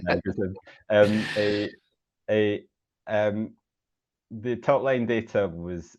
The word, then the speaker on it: adagrasib: what we call it, because I am pronouncing it differently, I think, to our American colleagues who say sotorasib and adagrasib, but those are very hard inflections. I think it trips off the tongue to say adagrasib.